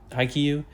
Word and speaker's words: Haikyuu: And yeah, okay, so I've seen this anime list before, and I see, okay, Haikyuu, I think Haikyuu is how it's pronounced. I don't know.